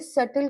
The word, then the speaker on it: subtle: कह दो, या subtle, SUB, B for boy, SUBTLE, T for tiger। तो B और T आता है तो हम सिर्फ T प्रोनाउंस करते हैं। तो उसने बड़े सटल क्वेश्चंस पूछे।